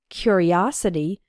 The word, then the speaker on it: curiosity: a curious boy and in the noun form curiosity the third syllable is strong o his curiosity got him into trouble